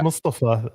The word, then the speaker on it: Mustafa: The proper way is to say Mustafa.